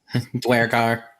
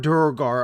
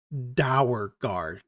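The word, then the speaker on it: duergar: Ildith cracks a joke about how the real pronunciation is actually Dowergar. Dwergar. Yeah. Dwergar, Durgar are the correct pronunciations. Both of them are correct. Dowergar. Don't do that.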